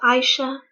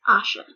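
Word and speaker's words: Aisha: a Moodle Asha yes the I is not pronounced it's not I sure it's Asha okay this girl was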